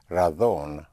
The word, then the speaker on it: razón: The word for reason, spelled R-A-Z or Z-O-N, in Castilian Spanish will be pronounced razón, otherwise razón. So it's a very, very slight pronunciation difference.